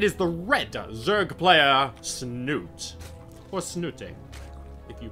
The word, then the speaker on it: Snute: Liquid net it is the reto Zerg player snoot what's new ting if you prefer the official pronunciation his opponent representing 80 gaming and just